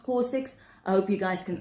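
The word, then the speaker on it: COSRX: I think it's pronounced corix.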